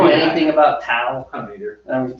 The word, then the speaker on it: Dao: and Tao of Pooh or Dao, I think it's actually pronounced Dao. It's more of a D sound.